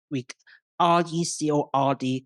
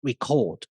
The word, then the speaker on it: record: For example, some words like RECORD can be pronounced as record or record. Words like INCREASE can be pronounced as increase or increase, depending on the word classes or what we call part of speech.